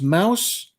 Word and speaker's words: Maus: that's how it's spelled art spiegelman wrote and Drew uh a New York best-selling book titled Mouse so I know that that's how it's pronounced the amount of people